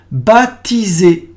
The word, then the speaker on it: baptiser: Baptiser, the P is silent.